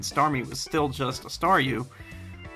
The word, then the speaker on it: Staryu: was still just a Staryu, I could never pronounce its name right. I always ended up sounding like Saw You.